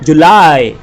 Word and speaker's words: July: Seventh महीना उसका नाम है JULY, इसका उच्चारण होता है जुलाई। यह है यज्ञ वाला य, जुलाई।